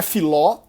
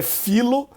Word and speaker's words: filo: Porque não é filó, é filo. É como em um filo de lana, né? Um fio de lã. Não é filó, pelo amor de Deus.